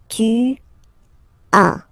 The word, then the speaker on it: tu as: As usual in French, final s is not pronounced. Tu as. Tu as.